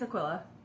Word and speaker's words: Aquila: Plus, Chevy Rail was like, how do you say your name? Aquila? Aquila? Aquilung. Final answer. Jethro told forever. It's Aquila.